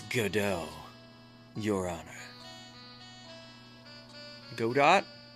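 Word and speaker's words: Godot: It's not Gobo. It's GDO, your honor. Go dot. The T is silent. Right. Right. I'm saying it right. Right. It's god do.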